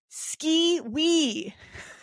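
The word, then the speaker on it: Skee-Wee: Ski wee. Okay. SKEE hyphen WEEE. How do you say that? Is it like Haktua? Okay. Sometime just like that, in a call and response, always high pitched, you might hear ski wee.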